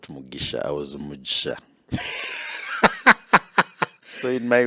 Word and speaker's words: Mujisha: No, it has a different pronunciation, which really? Is Mujisha, because J is a J, not J.